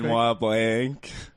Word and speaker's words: Benoit Blanc: Benoit Blanc.